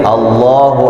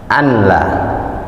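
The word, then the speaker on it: ألا: Karena banyak juga kadang muazin asyhadu dia ashadu h-nya jelas bukan asyhadu ashadu alla banyak muazin bacanya anla dia alla nun mati bertemu lam hukumnya bila ghunah hilang nunnya nya.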